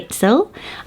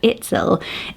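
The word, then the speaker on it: Itzel: about it a bit later the name is itsel i t z e l itsel really interesting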